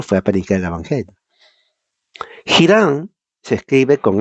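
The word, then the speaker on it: Hiram: a la pobre h y no se le pronuncia Pobrecita debe estar triste la H se llama Irán pero en inglés es hiran era hijo de una mujer viuda de la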